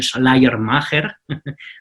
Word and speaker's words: Schleiermacher: Por eso inicia algo que se conoce como teología liberal, a partir de Friedrich Schleiermacher, mi alemán no es muy bueno, pero creo que así se pronuncia, y con Schleiermacher inicia